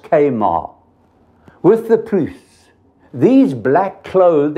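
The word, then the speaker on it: Chemarim: "And I will cut off the remnant of Baal from this place, and the name of the Kemarans," pronounced Kamar, "with the priests."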